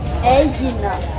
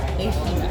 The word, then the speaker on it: Aegina: So is this pronounced the Asian? Aegina. Aegina.